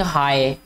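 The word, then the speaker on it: high: The birds are flying हाई, ठीक है, एच आई जी भी आता है इसमें जो कि साइलेंट है।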